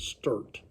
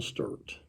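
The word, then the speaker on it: Stewart: but they pronounced it sturt uncle sturt that's the missouri way of saying it and so anyway his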